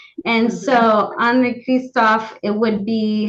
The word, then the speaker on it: Henri Christophe: I've only heard the French version, Henri Cristophe. So the only thing I would say is I would be careful in the future, and probably use the French pronunciation.